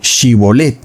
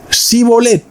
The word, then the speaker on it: Shibolet: Entonces le decían: ahora pues di Shibolet. Y él decía Sibolet, porque no podía pronunciar correctamente esa palabra.